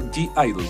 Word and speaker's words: (G)I-DLE: álbum de Idol o g Idol como ustedes quieran decirlo no importa si lo pronuncian mal según lo que yo entendía se pronuncia Idol sin la g que es como una una letra muda y bueno en fin